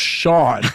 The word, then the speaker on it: Sean: like ocean because like it's pronounced shawn like oh sean uh